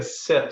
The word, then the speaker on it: CIP: But just it's take a sip, CIP, but that's pronounced sip. It's Right. not take a CIP. It's take a It's sip. not. That's right. That C is a soft C.